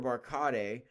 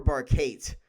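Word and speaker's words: Barkate: Not just one chain, but two because they got their wide receiver Cooper Barcade. I don't know how to pronounce his name.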